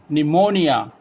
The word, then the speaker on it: pneumonia: letter that is P P will be silent used before s and n it is very difficult